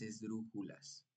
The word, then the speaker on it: esdrújula: ejemplo de palabra esdrújula el acento Entonces no está el acento no está ni en la última sílaba ni en as ni en la penúltima sílaba en Ju el acento está en la antepenúltima en dru entonces Esta es una palabra esdrújula y por lo tanto